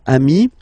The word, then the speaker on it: ami: Okay, but then technically you pronounce it the same way. So singular form ami, plural form you add this S, but it's ami as well.